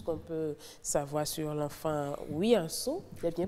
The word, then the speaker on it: Wianso: On a appris aujourd'hui tout ce qu'on peut savoir sur l'enfant Wiyanso. Il est bien prononcé, hein? Oui, Wiyanso.